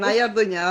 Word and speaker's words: Nahia Orduna: And for my viewers and audience here, a little bit of introduction of Nahia Ordunia, right, Nahia? That's how you pronounce, Yes, right? Nahia Orduna, that's it.